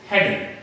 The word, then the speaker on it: hadn't: अब इसको आपने प्रोनाउंस किया होगा, आपने बहुत से लोगों को प्रोनाउंस करते हुए सुना होगा हैडंट, लेकिन हैडंट नहीं होता, दिस इज सिंपली हैडंट।